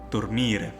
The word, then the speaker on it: dormire: While the fourth conjugation has a long E as a theme vowel. Therefore, we will have dormire.